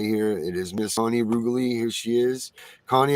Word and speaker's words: Reguli: Like regular, I always tell people, like regulate.